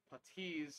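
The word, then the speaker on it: puttees: look on how to wrap these putties properly because it took me a long time sorry patis is the correct way to pronounce it it took me a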